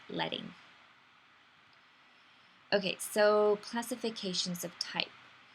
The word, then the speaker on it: leading: know it reads out leading but it's actually pronounced letting okay so classifications of type we have calligraphy